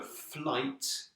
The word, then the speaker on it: flight: The flight was cancelled. And remember, you must pronounce the t in flight. Okay, because the fly, c'est la mouche. But the flight, c'est le vol.